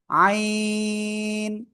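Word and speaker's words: ع: কোন জায়গাতে উচ্চারিত হয় এই গলার মধ্যখান থেকেই হালকা চেপে মুখ দিয়ে কোন বাতাস বের হবে না জাস্ট চার আলিফটনে উচ্চারণ করবেন আইন আইন সই সবাই একসাথে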